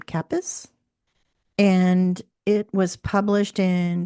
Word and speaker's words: Kappes: This is book number four in the Tanya I think she pronounces her last name Capus and it was published in 2018.